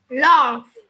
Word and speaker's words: laugh: Laugh. Laugh. Laugh. Laugh. Laugh. Này. Laugh. Mình sẽ phải bật cái âm phờ cái đây này này. Cái đuôi GH ấy mình sẽ đọc là âm phờ.